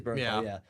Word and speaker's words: Bernthal: So John Bernthal, I'm pronouncing that right. I always screw up. So. I think it's Bernthal.